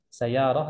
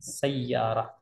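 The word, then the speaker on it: سيارة: as-sayyarah itu mobil ya sayyarah begitu cara bacanya karena tidak sedikit orang bacanya sayyarah tanpa tasydid huruf ya seharusnya sayyarah ya apakah engkau berangkat dengan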